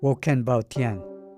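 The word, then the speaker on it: 我很抱歉: say you're very sorry in Chinese, which is pronounced Woken Bao Tian.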